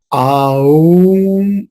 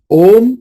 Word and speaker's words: ओम: और ओमकार का जप जैसे मैंने कहा आऊम इस तरह से बिल्कुल नहीं करना है। इट इज ओम meaning single syllable ओम। इसमें कोई भिन्नताएं नहीं है, उ अम नहीं। ओम सिंगल सिलेबल है, उसी का उच्चारण करना है।